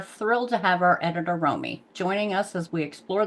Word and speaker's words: Romi: new person to introduce to our team uh Ramy do you want to introduce yourself uh uh it's pronounced Romy Romy Romy do you want to introduce yourself